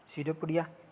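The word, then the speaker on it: pseudopodia: वैसे ये सीडोपोडिया पी से शुरू होता है, लेकिन पी साइलेंट है यहाँ पे, हम लोग इसे पढ़ते हैं सीडोपोडिया।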